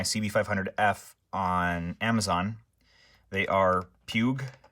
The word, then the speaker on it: Puig: They are Puig. I think that is how you pronounce the name now, Puig.